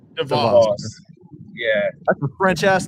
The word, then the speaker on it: DVOS: use it in a sentence and uh it's pronounced DeVos DeVos yeah that's a French ass name I'm not